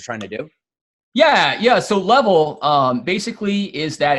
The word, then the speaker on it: LVL: It's level, but you can say LVL.